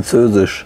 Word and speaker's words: Squale: Squale is French and is pronounced Skwual from Skwal, Squale, which means shark fin.